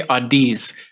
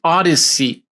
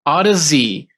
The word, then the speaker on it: Audeze: I still, for some reason, I say Audeze. Every time I see it, I say Audeze, but it's Audeze. Audeze, as in Odyssey, as in the great Odyssey of having a good set of headphones.